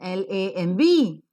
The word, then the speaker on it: lamb: like all of us we never know as to how to pronounce the word l-a-m-b or p s y c h e it's pronounced as lamb and psyche so how will we